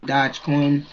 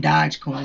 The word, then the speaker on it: Dogecoin: up under bitcoin then dodge coin no i know i think it's it's pronounced dogecoin or something dogecoin so